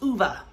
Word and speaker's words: Ove: I looked it up, and apparently that's how Swedish people will pronounce this name. So, A Man Called Ove.